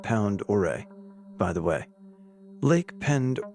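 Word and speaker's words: Pend Oreille: Idaho to be exact it's pronounced pound or a by the way Lake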